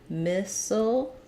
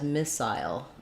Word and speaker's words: missile: seasonal word to practice missile has two correct pronunciations so I can either say missile with an e sound missile missile or that can be a little bit of a schwa just a dark owl there we can also pronounce missile as missile with an eye diphthong so like the word aisle missile both are correct missile defense systems there